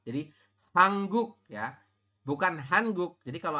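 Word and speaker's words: 한국: Kenapa ini jadi hang? Ya. Kenapa nien di bawah jadi eng? Karena ada aturannya, teman-teman. Nanti di bawah dibahas lebih lanjut ya. Nien ketemu dengan giok ya, maka nien yang di bawah ini, mau nien maupun giok, maka yang di bawah ini, yang posisinya di bawah, maka dia berubah bunyi menjadi eng ya.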